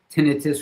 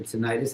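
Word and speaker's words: tinnitus: or not and that's the tenitus or tenitis however you like to pronounce it.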